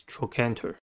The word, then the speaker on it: trochanter: the next word is trochanter the canter has three syllables and the stress is at the second one the first syllable is